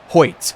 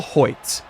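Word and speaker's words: Hoecht: by the way I just checked it it's pronounced hoit Michael hoit good to know I'm tired of saying it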